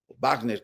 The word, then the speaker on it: Wagner: Entonces, digamos que aquí traíamos el grupo Wagner, Wagner que se pronuncia exactamente, ruso.